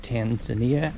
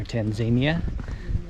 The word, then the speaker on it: Tanzania: you Dean trips in Tanzania or Tanzania two ways to pronounce it the country here in